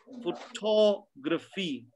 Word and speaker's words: photography: The sound before that is stressed, which becomes longer. And the sound in the suffix becomes shorter. So graph, but graphy. Photograph, photography. Philosophy, geography. That's how you pronounce the words, right?